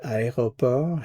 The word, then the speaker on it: aéroport: Again, remember the word aéroport has 4 syllables. A, E, ro, port. Aéroport.